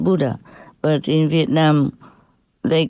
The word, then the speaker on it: Buddha: Buddha is a Sanskrit name and is pronounced Buddha, but in Vietnam they